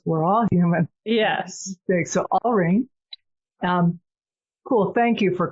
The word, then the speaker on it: Alreen: you with my name so my name is Alene it's a l Reen um not Arlene okay all okay listeners here's the funny part